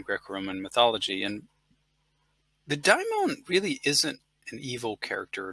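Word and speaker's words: daimon: is a diamond and it's very important to keep that pronunciation Diamond because some people might slide into the pronunciation of demon but a demon is definitely not the same thing as a dymone demons you know with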